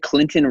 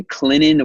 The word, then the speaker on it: Clinton: here on this podcast you said Clinton wrong they actually say Clinton where the tea is sweet the T is silent man so had to give